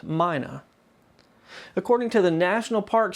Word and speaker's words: Mina: He also met Lewis Miller's 20-year-old daughter, Mina Miller. It's spelled M-I-N-A, but all of my sources say that it's pronounced Mina.